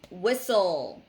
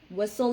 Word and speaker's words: whistle: t it's silent and another word is whistle also silent whistle is making a noise